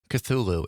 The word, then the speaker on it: Cthulhu: PG says, "The creature that scares me is I don't even know how to pronounce that. Cthulu is what is it?" Cthulhu.